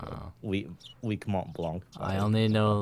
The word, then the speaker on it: Mont Blanc: That would- Mont Blanc. I mean, that was technically the correct pronunciation of a Mont Yeah.